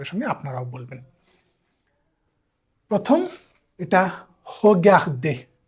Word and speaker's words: regarder: প্রথম এটা regarder, উচ্চারণটা খেয়াল করবেন। regarder, এটা regarder নয়, অথবা regarder এরকম নয়, regarder।